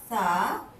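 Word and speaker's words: ث: তোমরা সবাই জানো সা উচ্চারণ করতে হয় সামনের দাঁতের, উপরের দাঁতের সামনের যে 2 দাঁত আছে সেই 2 দাঁতের আগার সাথে জিহ্বার আগাটা লাগিয়ে পড়তে হয় সা।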